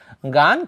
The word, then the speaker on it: gone: তারপরে past participle form কি বলি আমরা, গান, কেউ বলে কি গন, সমস্যা নেই, GONE এটার উচ্চারণ অনেকে গান বলে, কেউ আবার কি বলে গন বলে, কি বলে গান অথবা কি বলে গন।